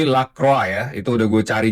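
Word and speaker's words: Lacroix: Kemarin juga ada eh inputan mengenai penyebutan nama Lakroa. Jadi bukan Lakro, bukan Lakroi tapi Lakroa.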